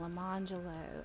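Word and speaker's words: Lemonjello: named them arangelo and la mangelo and it is spelled like orange jello and lemon jello but they're not but she wants them pronounced arangelo and lamangelo yeah and i'm like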